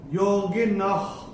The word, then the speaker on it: योगिनः: वो है क, और विसर्ग के बाद अगर क या ख आता है तो विसर्ग का उच्चारण होता है ख, आधा ख फ्रॉम द एपिग्लॉटिस। तो ये अगर आपने ध्यान